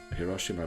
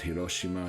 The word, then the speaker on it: Hiroshima: Hiroshima we're going to Hiroshima by the way is the English pronunciation I'm pretty sure we're